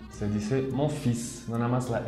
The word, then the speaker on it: fils: Y aquí es importante de no pronunciar la L. Se dice mon fils, no nada más la S al final. Mon fils.